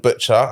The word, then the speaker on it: Mbeutcha: I think I'm Butcher, and that's spelled Mbeutcha. Right? I'm glad you said that because boy, it don't look like Butcher. That's not how it's spelled. But yeah, it's not like Pat Butcher.